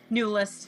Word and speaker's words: Neulist: that probably wrong how do you say your last name new list oh so i did say it pretty close so all right all